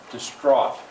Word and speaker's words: distraught: at peace okay uh how about the stress pattern can anybody hear it distraught and somebody hopefully would raise their hand and say there's two syllables the second one the stress this roth yes that's